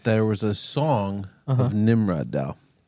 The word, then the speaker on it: Nimrodel: I found myself laughing quite hard when they described Nimrodel, and that there was a song of Nimrodel. Nimrodel. Nimrod-L. Okay. Wow. It's Nimrod-L.